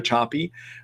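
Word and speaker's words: Sapi: 5 years ago by a researcher named Eva Choppy. Last name is spelled S-A-P-I, first name E-V-A.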